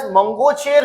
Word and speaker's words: Mangocher: The Baloch rebels under the Balochistan Liberation Army BLA has seized Mangocher, you can pronounce it as Mangocher city in the Kalat district of Balochistan.